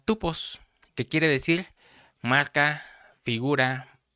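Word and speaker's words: τύπος: el número strong 5179 que se pronuncia tupos, que quiere decir marca, figura o modelo a seguir.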